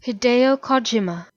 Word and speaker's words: Hideo Kojima: Hideo Kojima. Kojima. Well, the part I thought I knew, apparently I didn't, and the part I wasn't sure about. So Hideo Kojima.